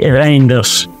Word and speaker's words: Reijnders: partigiani Reinders. Esattamente come avete sentito, si pronuncia esattamente così il nuovo centrocampista olandese del Milan.